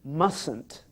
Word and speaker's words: mustn't: word mustn't it's funny you don't usually hear the tea when Americans say that word I mustn't work you mustn't work he mustn't work she mustn't work the tea and the end of must is really just really silent isn't it it mustn't work